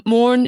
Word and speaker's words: Moran: if you're trying to find her online um mauren she pronounces as she pronounces her surname is spelt